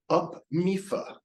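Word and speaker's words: UPMIFA: uh it is upm IFA awkwardly pronounced up meifa what does This Acronym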